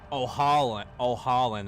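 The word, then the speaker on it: Ohalland: O'Holland, that's how you say his name.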